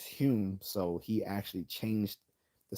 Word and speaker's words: Hume: Hume his name his his last name was originally spelled h o m e like home but in Scottish is Hume so he actually changed